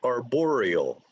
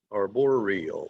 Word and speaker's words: arboreal: this word is pronounced arboreal arboreal so four syllables are boreal okay and the accent is on the second syllable arboreal arboreal arboreal i